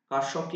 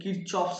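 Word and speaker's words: Kirchhoff: ক্লাসট এও পড়তে হবে কারসফকে ইংলিশে অনেকে কিরচপস বলে কারণ এর বানানটা ঠিক ওরকম কে আই আর C double H O double F অপস্ট্রপিস অনেকে কিরচপস ল বলে এর কারেন্টটা খুব ইম্পর্টেন্ট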